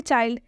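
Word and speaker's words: child: ठीक है, next example देखिए चाइल्ड। चाइल्ड में भी आई के बाद से L और D आया है, इसलिए यहाँ पर चाइल्ड का उच्चारण आई से हुआ है।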